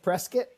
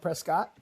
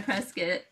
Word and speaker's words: Prescott: Uh it's funny you say so it's it's pronounced Prescuit, not Prescott. Yeah, Prescuit.